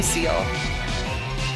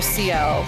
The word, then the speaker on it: Ciel: Alright then, my name's CIEL, but please feel free to call me Seal. Or CL. I guess I don't know. Pronounce it like that.